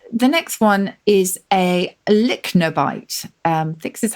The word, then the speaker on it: lychnobite: The next one is a lychnobite. This is how you pronounce it, Lychnobite.